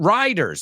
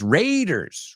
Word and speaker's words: Raiders: uh chis it's not Riders see this is why I said we got to be careful here it's not Riders it's Raiders Raiders so come Tomb Raider